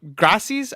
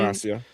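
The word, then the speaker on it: gratia: solid uh which is faith alone uh solo gracis I think is how you pronounce it. It's Grace alone. Gracia.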